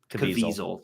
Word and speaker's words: Caviezel: Jim Caviezel. Caviezel. That's how you pronounce it.